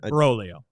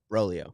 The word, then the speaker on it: Broglio: And I heard Brolio. Brolio. You don't pronounce that G.